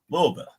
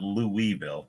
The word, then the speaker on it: Louisville: Louisville. Yeah. Still trying to say it right because it's not Louisville, like I always say it.